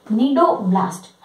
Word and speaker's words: cnidoblast: इसमें जो सी है वो साइलेंट है, CNIDOBLAST, नीडोब्लास्ट है ना।